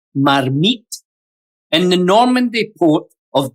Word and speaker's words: marmite: The name comes from a French casserole dish called Marmite or actually pronounced Marmmit in the Normandy port of Diet, a popular fish stew is known as Marmmit Deua.